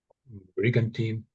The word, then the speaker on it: brigantine: Brigantine. Have you seen it before? You just did you guess the pronunciation?